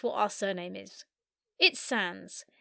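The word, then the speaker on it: Sandys: our surname is it Sans s a n d y s pronounced Sans with a silent y that's just a little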